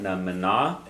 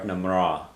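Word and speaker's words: mná: And you'll hear two pronunciations of that, namna or namra. Okay, so N's turn into R sounds a lot in different places in Ireland, yes?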